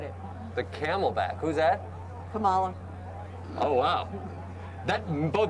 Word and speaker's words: Kamala: I don't think Biden's going to make the 4 years, and the Camelback, forget it. The Camelback, who's that? Kamala. Oh, wow. That both mispronounced the name and xenophobic.